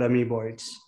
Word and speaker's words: Amoeboids: swanan is the ceo of a company called ami boyds i hope anand i am pronouncing the name correctly that's right it's called amy boyds perfect perfect so uh anand before we start